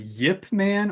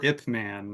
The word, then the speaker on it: Ip Man: epman or ipman ipman I've heard it pronounced uh Yip Man or ipman yeah not sure appropriate